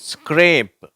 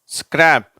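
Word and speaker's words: scrape: இப்ப பார்ப்போம் வார்த்தைகளை பார்ப்போம் இது ஸ்கிரேப் ஸ்கிரேப் ஸ்கிராப் சரியா பின்னால இ வந்தா அது ஸ்கிரேப் ஆயிடுது இது ஸ்கிராப் ஸ்கிரீம் ஸ்கிரீன்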